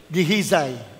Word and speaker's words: Gehazi: Meron siyang dinidisciple, ang pangalay, Gehazi. Sa English, pronounce nila, Gehazi.